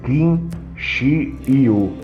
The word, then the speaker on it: kinguio: aquário mesmo foi o King ou kinsu pronuncia-se quin Xiu no final do século